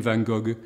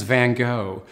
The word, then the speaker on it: Van Gogh: is Vincent van Gogh how you pronounce his name depends on where you come from the French for example would call him Van Gogh the Americans Van Gogh and in England we've settled for Van Gogh but he was Dutch